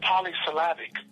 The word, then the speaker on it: polysyllabic: So intelligence is not the use of complicated vocabulary or polysyllabic words. Ooh. That's not what intelligence is. How many syllables is that? Polysyllabic. Okay. Shit. It's 5 syllables. Okay. 4 or 5.